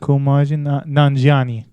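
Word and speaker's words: Kumail Nanjiani: But Kumaji Nanjiani, is that how you say his name? It is Kumaji Nanjiani.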